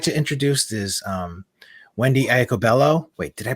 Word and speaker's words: Iacobello: So first panelist I'd like to introduce is Wendi Iacobello. Wait, did I pronounce that right? Iacobello?